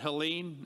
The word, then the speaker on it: Helene: Is it Helene? Okay. Silent E.